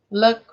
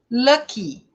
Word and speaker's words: lucky: Agora sim você tem que pronunciar essa letra como se fosse um I. Happy, happy, lucky, carry, né? Até essa palavra, olha só, essa palavra lucky, que termina com Y, ela tem que ser muito bem pronunciada com a letra I.